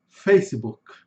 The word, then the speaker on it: Facebook: Em português, nós temos o costume de colocar o i no final de todas as palavras, principalmente de palavras em inglês. Por exemplo, YouTube, Facebook, TikTok. Em inglês, a pronúncia é bem diferente.